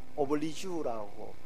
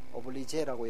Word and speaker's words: oblige: 그래서 다른 발음이요, 오블리주라고 발음해야 된대요. 오블리제라고 예전에 발음했는데 오블리주.